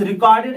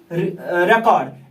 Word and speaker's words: record: Faheem keeps the रिकॉर्ड ऑफ हिज all expenditures and in this sentence I said in Kashmir the maximum temperature was recorded as 35 degree Celsius.